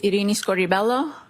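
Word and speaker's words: Irini Scordi-Bello: My name is Arini Scoribelloo. That's spelled I R I N I S C O R D I hyphen B E L L O.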